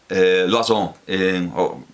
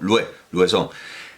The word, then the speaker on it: Loison: en París por Jean-Baptiste Loison, podríamos incluso decir Louison, a la manera en la que entonces se pronunciaría, que no sería Lois, sino Louison. En 1659, en esa nomenclatura